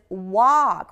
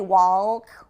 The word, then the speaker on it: walk: Versus walk. We don't pronounce the L. We don't say walk.